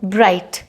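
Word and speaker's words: bright: एड्स आती है ना बहुत सारी कपड़ों की, कपड़े रहे ब्राइट, तो यहाँ पे GH नहीं बोला जाएगा, T बोला जाएगा, ब्राइट। थॉट, थिंक, सोचना जो है, इसका पास्ट टेंस होता है थॉट, और वोकैबुलरी भी इंक्रीज करते हैं।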